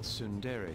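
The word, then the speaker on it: ツンデレ: Perhaps this is that tsundere thing, where someone is harsh or sweet depending on the mood.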